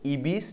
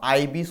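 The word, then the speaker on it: Ibis: হু রোট ইবিস trilogy? এটাকে ইবিস উচ্চারণ করতে পারো বা আইবিস উচ্চারণ করতে পারো।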